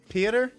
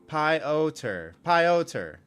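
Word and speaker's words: Piotr: Oh, is it Peter? I've been saying it wrong the whole time. Why didn't you? Pioter. Okay, right.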